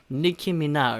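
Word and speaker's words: Nicki Minaj: 들게 발음 어려워요 그쵸 그나마 우리말로 옮겨 쓸 때 제일 약간 비슷한 소리가 니키 미나 즐겨서 니키 미나즈 라고 우리말로는 사용하는 건데요 영어로 정확하게 발음할 때는 니키 미나 을 위해 느낌이나 그런 식으로 발음 하시면 되겠습니다 자 이렇게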